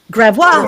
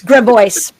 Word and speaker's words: Gravois: So, for example, there's a street called, it's spelled Grav as in Victor, Ois. And if you speak French, it'd be Gravois, right? Right? They call the cultured among us Gravois. Oui? Instead, it's Gravois.